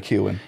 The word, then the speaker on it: Keoghan: How do you pronounce it? Barry Keoghan.